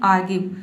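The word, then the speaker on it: argue: जैसे कि यहाँ पे देखिए आर्ग्यू, ठीक है, आर्ग्यू, इसमें आर्ग्यू नहीं आपको पढ़ना है, यहाँ पे जो आर लेटर है इसको साइलेंट रखना है, आपको बोलना है आर्ग्यू।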